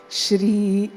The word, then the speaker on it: Shri: make sure we include the r sound where it deserves to be or where